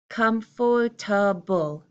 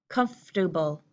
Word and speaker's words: comfortable: common American English pronunciation I'm using three syllables here and it's sounding like cuffs doable comfortable uncomfortable are you feeling